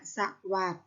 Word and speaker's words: สวัสดิ์: สรุป อ่าน ว่า สลบ สวัสดิ์ อ่าน ว่า สะ หวัด นะ คะ ไม่ ได้